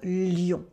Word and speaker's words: Lyon: It's pronounced like the animal, un lion, un lion.